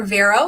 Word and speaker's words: Vero: yes my name is vero if you can roll your r's or vero if you cannot i am a linguist